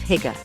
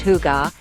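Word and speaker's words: hygge: that elusive concept of higer higer pronounced hugar is basically the art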